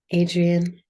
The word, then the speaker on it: Adrienne: Susanna Susanna okay and how do you pronounce your name Adrian Adrian Adrian yeah yes yeah I'll accept a French pronunciation if people have French in their systems and I'll accept I'll accept almost any pronunciation if it's like that's the nature of the tongue but yeah I say Adrian yeah yeah you've been